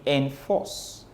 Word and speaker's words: enforce: Force is the stressed syllable, N is the unstressed syllable, and that makes it an iambic foot or an iambic meter.